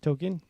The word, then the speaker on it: Tolkien: How do you pronounce it? Tolkien.